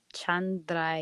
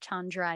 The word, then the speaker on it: Chandra: moon Chandra and Chandra when you're chanting it is Chandra yay or if you can't roll your R's Chandra a yeah she died